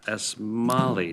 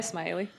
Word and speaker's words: Smiley: community designations presented by s molly did i pronounce that correctly um close uh mr chair smiley smiley oh okay lovely welcome